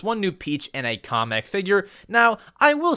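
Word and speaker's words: Kamek: off kamik or comic and they pronounced his name comic I hate calling him comic I always thought that his name was pronounced kamik I'll call him comic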